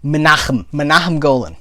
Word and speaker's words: Menahem Golan: Menahem Golan.